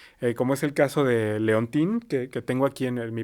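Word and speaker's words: Léontine: Y Leontín, que se escribe Leontine, tuvo su propia serie entre 1910 y 1912, como esta chavita colegiala que hacía maldades a la gente, ¿no?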